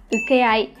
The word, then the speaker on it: 請け合い: Chúng ta có chữ thỉnh và chữ hợp, và từ này chúng ta sẽ đọc là ukeai.